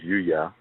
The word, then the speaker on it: Yuya: Okay, my my name is Yushua. And it's spelled Y U Y A. And it means that he will his powers will be added on to. Okay, Yushua.